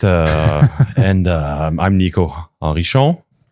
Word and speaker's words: Henrichon: Uh, and um, I'm Niko Arishon. Say it properly. The English people might say Henry, but that's yeah, that's actually what I just did.